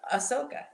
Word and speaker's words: Ahsoka: wait this is my favorite thing involved oh ahsoka there you go that's like one of my favorite features of google all right so ahsoka she it's gonna be one of the first